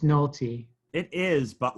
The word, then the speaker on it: Nohelty: 50 shot of people i i want to pronounce the the hel tui you know but it's it's just nalty it is but like